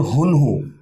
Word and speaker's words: UNHU: सो इसका actual pronunciation is called हुनहु. Okay, actual pronunciation हुनहु है, बट it's fine, हम उनहु ही ज़्यादा लोगों को बोलते हैं बिकॉज हुनहु इतना इजी नहीं होता बोलना. कई लोग ऊनो बोल देते हैं इसको, उनो.